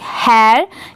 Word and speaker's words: hare: हैर।